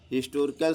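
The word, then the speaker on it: historical: देखिए हिस्टोरिकल से पहले एन आया है तो यहां पर एन आर्टिकल है। हिस्टोरिकल में हिस्टोरिकल पढ़ा जाता है। एच साइलेंट हो जाता है।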